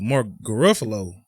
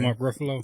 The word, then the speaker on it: Ruffalo: I thought that was finna be Mark Garofalo. However you say his name. Mark Ruffalo.